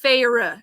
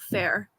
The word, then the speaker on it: Feyre: still don't accept that it's feyre instead of fair i don't accept it